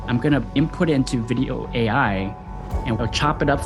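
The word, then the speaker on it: Vidyo: Well, there's a tool called Video AI, and I'll spell it out for you. It's called Video AI.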